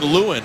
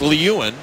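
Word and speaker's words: Lieuwen: pronunciation of the goaltender for Buffalo is Nathan Lewin. The NHL Guide and Record Book phonetically said it was Lewin, but I'm told that it is Lewin, so we want to get that correct and apologize for the misunderstanding.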